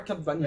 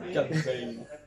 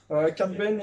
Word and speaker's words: Cad Bane: Oh non, pas Cat Bane, s'il vous plaît, arrête. Arrête. S'il vous plaît, prononcez ça à l'anglais. Sinon, il perd en poids de crédibilité. Cat Bane.